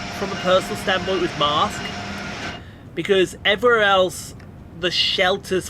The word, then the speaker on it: Marske: Marsk, when you walked in there, and that's by the way, that's not Marsk me being the posh person. Marsk is spelled Marske.